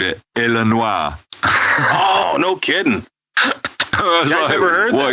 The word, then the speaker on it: Illinois: going to Chicago Illinois you don't pronounce the S on the end oh I know that yeah okay I didn't know if you knew that yeah you don't say the S it's Illinois not Illinois yeah or